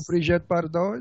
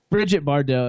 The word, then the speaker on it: Brigitte Bardot: No, you have to say it French because when you say it in French, it's sexy.